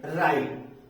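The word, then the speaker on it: write: अगर राइट माने लिखना अगर इसके डब्लू के तुरंत बाद आर अगर आ जाता है तो व डब्लू हमेशा साइलेंट हो जाता है रि रिस्ट र राइट इसके अलावा सो अगर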